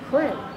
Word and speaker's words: when: But actually, the proper pronunciation in English is to say the H first. In British or stage English, they do that. They will say what, when.